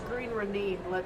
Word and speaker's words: Green Ronin: The Song of Ice and Fire is also Green Ronin. Yeah. It's Green Ronin. Okay, my bad. We got schooled on the correct pronunciation of their company name by Chris Promise.